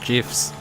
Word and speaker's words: GIF: Like they handed out fucking bans and warnings and final warnings for people that posted a couple of GIFs. And why am I pronouncing it in the East as GIFs instead of GIFs?